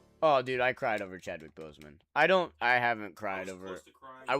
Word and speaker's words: Chadwick Boseman: Chadwick Boseman. Chadwick Boseman, he said. I said his name wrong. Yes, Chadwick Boseman.